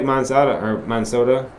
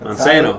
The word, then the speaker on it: Monsanto: Like, they're just like Monsoda. How do you say it? Monsanto.